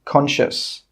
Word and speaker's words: conscious: The letter C is normally not pronounced if it's with the letter S. For example, conscious.